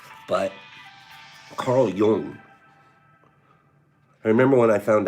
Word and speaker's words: Jung: school of thought, Carl Jung comes along. I remember when I was younger, I didn't know how to pronounce it. I always said Jung. His name was Jung.